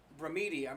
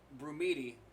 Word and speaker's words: Brumidi: was completed in 1866 and bruh media I was pretty I was pronouncing this guy's name wrong Constantino Brumidi painted it over the course